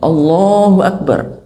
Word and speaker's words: Allahu Akbar: Jadi kalau misalnya kita memekikkan takbir, ya melantangkan takbir, itu bacanya juga harus benar. Harus baca yang benar. Jadi takbir misalnya Allahu Akbar, itu misalnya.